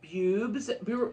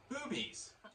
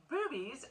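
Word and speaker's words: Bube's: And the place, I thought it was called Bubes, like B-U-B-E-S. No. It's pronounced Boobies. Boobies Brewery.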